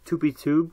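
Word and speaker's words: TupiTube: talk about today into synfig as well as 2p tube which is spelled T UPI T ube and it's not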